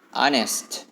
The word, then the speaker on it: honest: Fifth, yang kelima, honest. H-O-N-E-S-T. Honest. Tulisannya mungkin honest, mungkin ada yang membaca honest. Tapi cara pelafalannya huruf H-nya tidak disebutkan. Jadi honest.